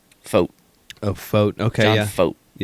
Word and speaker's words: Fought: Fought? Yeah. It's like it rhymes with boat. Foat.